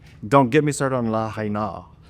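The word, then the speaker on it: Lahaina: choice to say, this is how we actually pronounce it. Don't get me started on la haina, like that.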